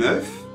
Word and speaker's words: œuf: quatre u alors attention on dit un œuf mais des œufs attention à la prononciation bien donc comme vous